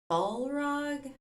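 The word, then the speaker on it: Balrog: then at the very end we get the ball rug that's how you say it we get this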